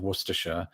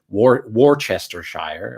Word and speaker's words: Worcestershire: And a lot of people are surprised to find it's pronounced exactly as I did just there, with just the 3 syllables.